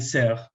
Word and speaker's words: Serres: Hay un texto, un libro llamado Pulgarcita, que se los recomiendo, que es de Michel Serres, se escribe Serres, con S, S-E-R-E-S, que Pulgarcita, Michel Serres